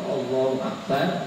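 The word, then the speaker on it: الله أكبر: mungkin belum tahu kalimat takbir yang sebetulnya, kadang pengucapannya agak sedikit ya saya kira sedikit keliru ya. Jadi kalimat takbir itu Allahu Akbar, Allahu Akbar kalau 2 kali, kalau 3 kali berarti Allahu Akbar tanpa itu.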